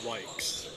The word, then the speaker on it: Wes: shooting foul EJ Wes last name is pronounced wees to the Baseline trueax